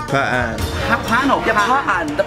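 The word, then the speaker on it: Hpa-An: Yeah, Hpa An. The pronounce is Hpa An, not Hpa An.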